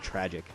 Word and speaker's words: Trag13: Or I think it's actually pronounced Tragic.